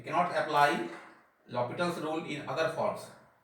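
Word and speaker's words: L'Hôpital: एल हॉस्पिटल लिखते हैं, एल हॉस्पिटल पढ़ते हैं लॉपिटल, एच यहाँ साइलेंट है।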